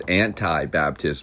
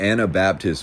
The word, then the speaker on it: Anabaptist: younger days I remember I used to mispronounce this as anti Baptist movement and I remember once I was sternly corrected and told that is not what that means yet in a nutshell